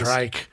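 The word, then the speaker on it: Rhydderch: He was just like, it's 3 syllables. Rydreich.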